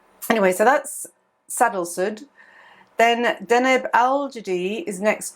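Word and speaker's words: Sadalsuud: So it's a funny little star, Sadal Sud, sorry. I always get the pronunciation muddled up with that one. It's like sandals. Anyway, so that's Sadal Sud.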